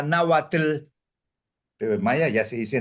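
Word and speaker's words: náhuatl: por los mayas porque los mayas acentúan todas las palabras en la última sílaba Entonces sería nauatl Pero Maya ya se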